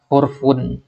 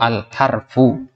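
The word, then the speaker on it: al-harfu: Nah, kalau kita katakan hurfun, ya, hurufun salah, hurufun salah. Al hurufu atau al harfu. Perhatikan bedanya nanti ya, karena sering kita temukan santri yang baca seperti itu ya. Al hurufu bacanya, ini salah, al huruf lain artinya, itu juga jamak maksudnya, ya. Taib. Jadi al harfu hanya satu di sini, ya.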